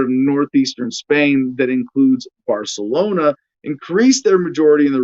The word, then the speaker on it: Barcelona: asina uh well a barcelona politician i guess i suppose i suppose i should be using proper spanish pronunciation barcelona yeah the lisp thing oh my gosh uh